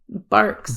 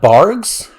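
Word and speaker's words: Barq's: I see it yeah it's it's barks barks barks R like a dog it's not bars bark bark oh my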